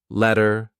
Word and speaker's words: let her: H just R but I also attach it to the word before so I link those sounds together letter letter let her go it's high